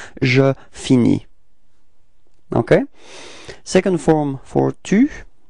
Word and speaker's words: finis: Okay, so you see that this verb is ending with S, but then you don't pronounce it. All right, so it's je finis.